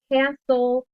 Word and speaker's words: castle: You just have to know if it's a word like castle, hustle, the T and the E are silent.